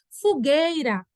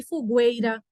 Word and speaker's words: fogueira: NH é dígrafo tá fogueira tô percebendo aí que tem sempre alguém errando ou errou na marcação o G1 né ninguém fala que fugueira nem escuta fogueira é gay Não tem